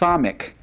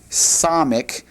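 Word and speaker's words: ס: And it's pronounced Samic. Samic, and it has a definite S sound in English. Samic.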